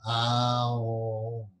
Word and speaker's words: Om: When you think of the term Om, Om is actually a 3-syllable word, A-U-M. Om. It's not just Om.